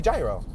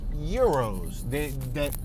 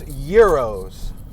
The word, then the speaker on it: gyros: I would say gyro. But little did I know, after hearing the radio station a few days ago, I noticed that they say Euros, that the G is silent.